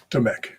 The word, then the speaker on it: Domek: Just think of it as a silent Q. Domek. Domek.